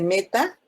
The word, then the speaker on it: meta: Si está en la posición 3, se dice meta, pero se escribe M.